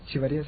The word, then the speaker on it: Echeveria: It sounds like it's spelled like it sounds.